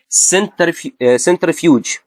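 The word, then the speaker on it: centrifuge: سنترفيوج، سنترفيوج ليه نطقت السي سي؟ ليه؟ عشان جه بعدها ايه.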